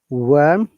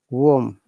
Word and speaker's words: warm: You see, a WS sound in most of the cases it is O sound rather than WA sound. So instead of saying worm, this word, it should be warm. Yeah, and there should no R sound.